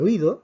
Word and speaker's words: oído: acento de hiato en el caso de oído vemos que tenemos tres sílabas o y dos el acento nos indica que aquí no hay un diptongo que hay